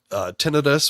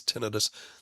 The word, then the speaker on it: tinnitus: Not so much for tinnitus or tinnitus. It's always, my ENT professors always pronounce it as tinnitus.